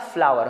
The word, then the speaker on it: flower: Floor nahi hoga, flower hoga, jiska matlab hai aata.